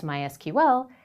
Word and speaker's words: MySQL: explicitly in their documentation that the language is pronounced sequel others such as MySQL say explicitly that their name is my SQL